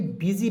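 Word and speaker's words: busy: बी यू एस वाई बूसी नहीं पढ़ेंगे बीजी पढ़ेंगे बिजी बी यू एस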